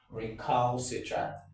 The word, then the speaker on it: recalcitrant: obeying instructions, you say, oh, that individual is recalcitrant.